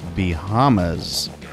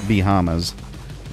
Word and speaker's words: Bahamas: now uh once again we're heading to the bahamas and uh you certainly don't pronounce it b hamas but um you know